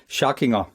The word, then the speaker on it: Schackinger: Schackinger. Schackinger. Yeah, okay. It's more like a German pronunciation, yeah.